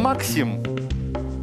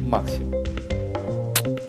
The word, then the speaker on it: Максим: А Хайрам Максим изобрел эту дьявольскую машину. Правда, ее называли потом с другим ударением. Хайрам Максим.